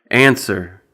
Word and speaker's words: answer: And then also, the letter W is silent in the following words, for which we have